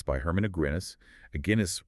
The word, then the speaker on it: Aguinis: Aguinis rhymes with Guinness.